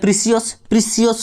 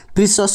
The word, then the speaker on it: precious: next देखो next अच्छी pronunciation PRECIOUS एटा कौन आम कह प्रिसियस नुहे ये है सहीटा हूँ आम असुविधा हूँ से प्रिसियस नुहे यहाँ हूँ प्रिसस हूँ यहाँ PRES यहाँ प्रिसस अस यहाँ हूँ